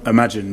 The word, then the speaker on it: Imagen: a great thing here how do i pronounce imagen imagine yeah imagine yeah i've also because you're